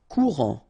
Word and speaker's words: courant: Courant. Final T not pronounced. A-N. En.